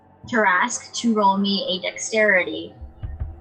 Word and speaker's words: Tarrasque: So I am going to cast Disintegrate, and I need the how do you pronounce it again? Tarrasque. Tarrasque to roll me a dexterity save.